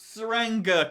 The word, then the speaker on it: Tsuranga: today we're tackling the Ranga conundrum I believe the T is silent in this episode the